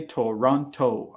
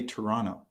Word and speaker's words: Toronto: also reduced speech right we spell it toronto so i'll write it here in the comments toronto but listen to the way i say it toronto toronto i don't say toronto i say toronto and some people say